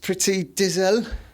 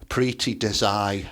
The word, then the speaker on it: Preeti Desai: But is it Pretty Dizel? Come on, you're going to have to help us out, Ted. I think you pronounced that incorrectly. I think it is Preeti Desai. Preeti Desai, right.